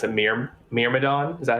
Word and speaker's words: Myrmidon: I don't know how to pronounce it. Myrmidon? Is that how you say it? yes. Myrmidon? Myrmidon.